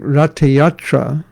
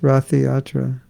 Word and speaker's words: Ratha Yatra: and so was maharish pratraparuja and so during ratayatra not yatra that's how it's pronounced it's not pronounced ratha yatra going to ratiate it's rata yatra of course